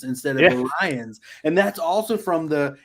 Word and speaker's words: Orion: about the new episode too because they say orians instead of Orion and that's also from the Animated Series because